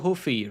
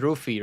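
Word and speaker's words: Ruffy: card is um Mauricio huy ruy I think it's ruy right ruy I think that's that's how you just pronounce it in the Brazilian Portuguese Mauricio ruy taking on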